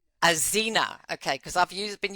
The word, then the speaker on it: Axena: I'm going to cut this bit because I just want to ask you how to properly pronounce the name of the company. Um Azena. Azena.